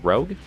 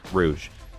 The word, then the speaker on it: Rouge: No, the Hydra comes from uh, Rosco, not Rosco, uh, Rogue Rouge. Rouge, that's how you say it.